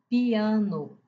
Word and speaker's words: piano: Piano é a mesma coisa. piano. O i depois eh, você fala o i, depois você precisa de um novo fôlego para falar o a que dá três impulsos de voz. Para falar três sílabas, piano, coelho, o o